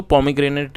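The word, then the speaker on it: pomegranate: एन ए टी ई इसे पॉमी ग्रेनेट पढ़ेंगे और इसका मतलब होता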